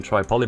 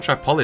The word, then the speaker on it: Tripoli: Oh, they've taken Tripoli back. Nasty. Keep saying Tripoli, don't it? It's Tripoli. I don't actually, it might be pronounced both ways, you know.